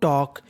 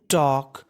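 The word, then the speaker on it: talk: पढ़ते हैं हम लोग टॉक यहां पे के से पहले अगर एल है तो उसे हम कैसा रखते हैं साइलेंट यानी एल का उच्चारण नहीं करते तो क्या बन गया टॉक टॉक का मतलब बातचीत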